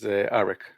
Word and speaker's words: Aric: But the way it's usually pronounced is Aric.